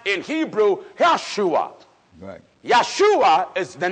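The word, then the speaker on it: ישוע: Jesus the Hebrews say Yeshua the reason why they say Yeshua because one there is no Jace in the Hebrew grandma Joshua is pronounced in Hebrew Yeshua yahshua is the name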